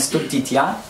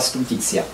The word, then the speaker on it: stultitia: Ja posługuję się wymową restytuowaną łaciny, a nie wymową kościelną, więc jeżeli ktoś ma wrażliwe ucho, to zwracam na to uwagę. W kościelnej wymowie to by była stultitia.